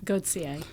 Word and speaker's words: Gauthier: How do you pronounce his last name? Goodier. Goodier.